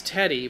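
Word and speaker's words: Teddye: It's it's Teddy but it's spelled like Ted die 262 ranked prospect.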